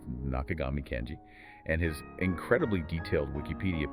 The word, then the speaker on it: 中上健次: A pronunciation note confirming the correct way to say his name, that's Nakagami Kenji, and his incredibly detailed